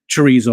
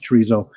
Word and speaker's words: chorizo: But I had never had Spanish chorizo, and it was good, very good. Pedant warning: chorizo. Chorizo. Chorizo. With how they pronounce it. That must be the Spanish version, because the Mexican version, yeah.